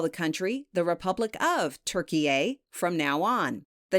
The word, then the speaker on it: Türkiye: the Thanksgiving bird and rebrand itself as Türkiye, which is spelled T-U with 2 dots on top, R-K-I-Y-E. This is how the country's name is said and written in the Turkish language.